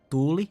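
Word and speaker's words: tuuli: Tuli is fire. Tuli is wind with two U's. So tuli, fire.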